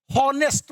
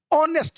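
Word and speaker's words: honest: फिर यहां पे एच जो है हमारा यह प्रोनाउंस नहीं होता। इसका उच्चारण हम नहीं करते। यह हम नहीं बोलते हैं। ही इज ए हनेस्ट मैन। नहीं कहते हैं। ऑनेस्ट मैन कहते हैं।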